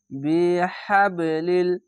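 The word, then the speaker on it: بِحَبْلِ: ওয়াতাসিমু বিহাবলিল, এখানে কলকলা হবে, ধাক্কা মেরে নিচে সাউন্ড আসবে।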